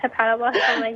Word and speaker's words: hepatoblastoma: Did I pronounce that right? Yes, hepatoblastoma, yes.